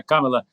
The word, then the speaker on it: Камала: вдалий хід помели помели кажу в камели наголос на перший слог Да камела харіс коли вона замість